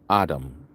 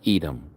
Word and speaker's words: Edom: This is what the Master Yahuah said concerning Adam. People pronounce it Edom.